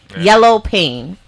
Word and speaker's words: YelloPain: YelloPain.